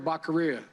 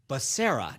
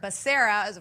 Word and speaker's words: Becerra: secretary of health and education i nominated javier baccaria you know javier bashir excuse me third time's the charm maybe it's javier becerra now i've had my own struggle so but